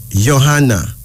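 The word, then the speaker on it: Yohana: And finally, Johanna.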